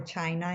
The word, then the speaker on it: China: So you see artists like Anuel with hits like "China" (PRONOUNCED CHEENA) or "China" in English if you want to say it that way-- which was just a massive global hit because it's a great song.